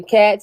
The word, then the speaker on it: khat: I thought it was called Cot. Khat. How you say it? Cot? Who Hey, I'm a cares? country boy. It's cat. Yeah, Okay, me that too. sounds like cat.